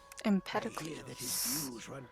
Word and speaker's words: Empedocles: Empedocles. I was close to pronouncing it when I was looking at it.